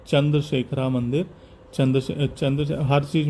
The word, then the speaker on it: चंद्रशेखर: South में जाते हैं, जैसे रामा हो जाता है, कृष्णा हो जाता है, तो उसी तरह से चंद्रशेखर को इंग्लिश में जब लिखते हैं तो ए लगा देते हैं, और जब उच्चारण करते हैं साउथ में तो भी उसमें चंद्रशेखरा हो जाता है। तो ये है चंद्रशेखर मंदिर हमारे हिसाब से, मतलब हिंदी के हिसाब से।